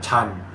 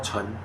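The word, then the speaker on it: 陳: I only know his surname is probably Tan, T-A-N, Tan, Hokkien. Tan is Hokkien, Chan is Cantonese. In Mandarin, they call Chen. Different pronunciation, but it's exactly the same word, Tan.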